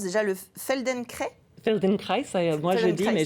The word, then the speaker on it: Feldenkrais: Il pratique comment ça se prononce déjà, le Feldenkrais? Feldenkrais, moi je dis, Feldenkrais.